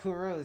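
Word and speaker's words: Kurose: Both are shocked to see Oh, Kuruz, that's how you pronounce his name. Kuruz, that's how you pronounce it.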